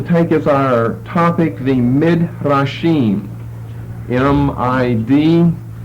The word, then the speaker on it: Midrashim: So tonight we're going to take as our topic the Midrashim, M-I-D-R-A-S-H-I-M. You're accustomed to hearing Hebrew pronunciation, so you could probably spell that yourself.